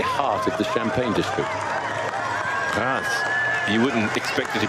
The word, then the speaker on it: Reims: Reims. You wouldn't expect it to be pronounced like that based on the spelling. Well, most people say Reims, but that's completely wrong.